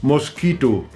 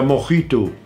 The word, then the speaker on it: Mojito: Ich bin dann von Sex on the Beach umgestiegen auf Mosquito. Ja, Mosquito war so ähnlich. Ja, Mojito. Ja, gut, dann wird das Spanisch ausgesprochen. Mojito, ne?